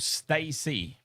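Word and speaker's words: STAYC: So, there's a K-pop group called Stacy. It's like um Okay, think about Simpsons Malibu Stacy. Like, that's how you pronounce the name Stacy, but it's spelled S T A Y C.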